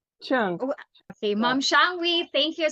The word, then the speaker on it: Qiang: So, Mom Shang? Qiang.